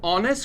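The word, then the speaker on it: honest: एक ऑनेस्ट लड़का है तो जब हम इसको प्रोनाउंस करते हैं ना गैस तो हम बोलते हैं अन ए आंड सो it mince vowel का साउंड है तो यहां पे हम लगाएंगे एन ही इस एन ऑनेस्ट boy right gas ऐसे ही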